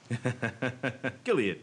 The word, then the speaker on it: Gilead: to pronounce Gilead properly Gilead that was close it's it's yes gilad anyway so um hard G hard G so I uh that